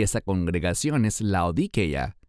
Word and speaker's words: Laodicea: Y esa congregación es Laodicea, que también se pronuncia correctamente como Laodicea. De ambas maneras es correcto.